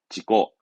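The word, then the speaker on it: 事故: 발음은 지고, 지고.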